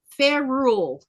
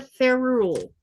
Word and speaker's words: ferrule: Let's see if I can pronounce this one right, maybe. What is a ferrule?